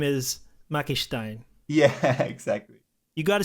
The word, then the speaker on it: McMakistein: right now I think the most common thing people say is just make mecha Stein you know like that's just how people pronounce it I guess so I